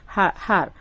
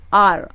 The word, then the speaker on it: hour: The reason behind this is like we use an with R because the H is silent. Like we are not pronouncing HR. Like we are not pronouncing like har. Like it's R, okay?